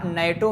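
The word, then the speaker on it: NATO: आस अ SAARC country अ नेटो member N eighty ओ member नहीं कहते ना बल्कि क्या कहते हैं नाटो मेंबर हालांकि य शॉर्ट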